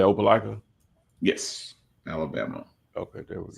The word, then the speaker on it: Opelika: And you said Opelika?